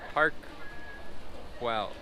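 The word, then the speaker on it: Park Güell: See, like, how do you pronounce that? Parkwell. Parkwell. Sounds like Peter Quill.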